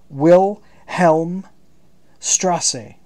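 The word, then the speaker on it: Wilhelmstraße: Wilhelm mustache what the this is pronounced wil Helm Strasse a stone's throw down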